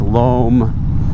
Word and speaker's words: loam: And uh indeed, the pronunciation is lom like I like I always suspected.